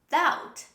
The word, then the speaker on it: doubt: this is that that another similar word which have the b sound in the middle but we don't say this sound when we pronounce this word this is doubt say with me doubt don't say doubt this is doubt doubt the next word don't